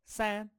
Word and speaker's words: 三: 三 San, san. So I think of sand for that.